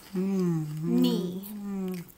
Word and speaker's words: knee: Okay, like your knee right here. Knee. It's a tricky one. It has a silent K at the beginning.